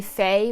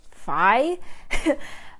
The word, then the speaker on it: Fei: I mean, Faye is too. A lot of people like to call it Phi. And then they pronounce my middle name or my Chinese name Phi, which is just wrong.